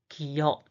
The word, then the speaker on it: 기역: The pronunciation is ga, ga, ga. The name of this consonant is 기역, 기역, 기역, 기역, 기역.